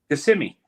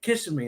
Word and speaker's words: Kissimmee: How do you pronounce that? Kissimmee.